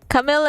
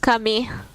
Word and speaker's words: Camille: Camille is a guy that's pronounced Camille. I just kind of read Camille. Oh, he's French? Oh no!